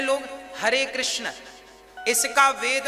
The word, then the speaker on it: कृष्ण: हां वेद मंत्र है यह शुद्ध उच्चारण इसका क्या है हरे राम हरे राम राम राम हरे हरे हरे कृष्ण हरे कृष्ण कृष्ण कृष्ण हरे हरे यह वेद मंत्र बोल